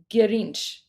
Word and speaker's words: Grinch: So we would pronounce So in Persian we would we wouldn't say Grinch, we would say Ginch because remember it's the two it's the two consonant rule, right?